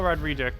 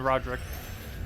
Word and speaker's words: Roderick: Hello, Rodrigic. Welcome. Or, I mean, Roderick. I had like 2 extra syllables that aren't there.